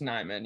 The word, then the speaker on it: Nijman: It's like spelled like Nijman, but I think it's Mhm. pronounced Nyman. Yeah.